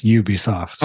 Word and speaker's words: Ubisoft: this one Sean pronunciation I've been told multiple times in recent years that it's Ubisoft okay all right that's